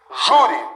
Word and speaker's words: júri: Olha, sílaba tônica, júri, isso aqui é mais forte.